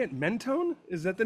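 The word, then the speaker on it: Mentone: Menone. Is that the name of the show? Yeah, Menone.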